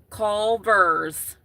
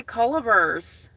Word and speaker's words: Culver's: They're being like, Culvers.